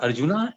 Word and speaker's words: Arjuna: when they speak about Arjun or Krishna they will speak Arjun and Krishna not Arjuna and Krishna why it is wrong it's wrong the correct pronunciation is Arjuna oh I see ah